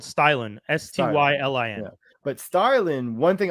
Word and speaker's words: Stylin: were saying it right the company is called stylin s-t-y-l-i-n but starlin one thing i want to